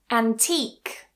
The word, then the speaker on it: antique: So even though we have a U and an E at the end of the word, they are both silent and we just finish that word with a C sound.